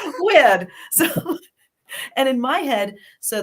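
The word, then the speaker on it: wyrd: could tell is that when you look it up spelled with a Y you get an English accent of that weird and in my head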